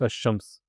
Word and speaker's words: Ash-Shams: And within the sun letters, the lam is basically Silent. silent, and the letter is doubled, whichever one's the next one. Yeah. To mention, like Ash-Shams.